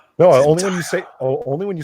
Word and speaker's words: Zendaya: They replaced this girl with Zendaya Coleman. Oh, say her name right. She's a perfume. Zendaya. No, Zendaya.